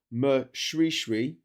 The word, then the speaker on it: Moshoeshoe: King Moshoeshoe, pronounced Moshoeshoe. They just set me up to fail here.